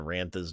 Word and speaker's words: Rantha: You know, it dawns on me that Rantha's name is Rantha, and it rhymes with Bantha, so I think I'm going to start calling her Bantha Poodoo from now on.